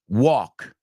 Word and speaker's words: walk: at right there is the word walk okay walk talk half okay walk talk half no walk t or half these are very common pronunciation mistakes Amigos we're going to